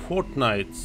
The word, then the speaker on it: Fortnite: Это игра Fortnite. По-моему, как-то так она произносится.